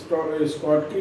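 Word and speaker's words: Schottky: एक है स्कॉटकी defect, दूसरा है फ्रेंकल डिफेक्ट, और तीसरा है इंटरस्टीशियल डिफेक्ट।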